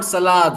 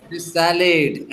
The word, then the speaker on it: salad: इट इज नॉट सलाद, okay? सैलेड।